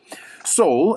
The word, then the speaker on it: Seoul: Seoul is the capital of Korea.